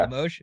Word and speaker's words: Limoges: Um, but even Alex Limoges, is that how you say his name? Yeah. Limoges? Okay, yeah, like that's a guy I want to see with the Jets a little bit more.